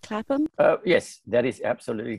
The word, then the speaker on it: CLAPAM: Zainal, tell us how Cleft Lip and Cleft Palate Association of Malaysia, or CLAPAM, have I pronounced that correctly? CLAPAM?